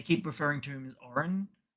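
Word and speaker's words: Orun: So, it's Oron.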